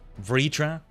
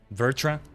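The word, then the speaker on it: Vritra: I wrote it down because I wrote down the pronunciation, which is like three of them. VRA. Vitra. Vertra. Spell V R T R A.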